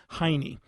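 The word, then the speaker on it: hinny: actually call that a henny h-i-n-n-y some people choose to pronounce it hiney well this is a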